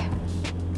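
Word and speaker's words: ไชโย: Chayo.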